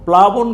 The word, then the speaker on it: প্লাবন: প্লা ব ন বন কি হইলো প্লাবন প্লাবন প্লাবন কথার অর্থ হলো বন্যা অতিরিক্ত পানির প্রবাহ ঠিক